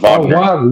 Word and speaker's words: Wagner: series is because of Wagner Wagner is back. That's really nothing to Pablo. It's pronounced Vagner.